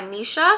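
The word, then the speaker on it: Missha: a cotton Contour by Misha which is actually nice because Misha rhymes with Nisha so this is what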